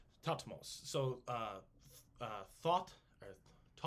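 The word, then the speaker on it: Thutmose: is hutmos the third topmost would be probably pronounced but it's t-h-u-t-m-o-s-e tatmos so uh uh thought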